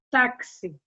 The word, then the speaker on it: táxi: X com som de CS, táxi, durexi, né? Percebe-se o som de xi, xi, mas você escreve com X.